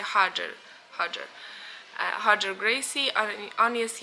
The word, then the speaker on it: Roger: wywodzi się z Brazylii po brazylijsku r wymawia się jako h czyli na przykład Roger wymawia się Hager Hager huger bris on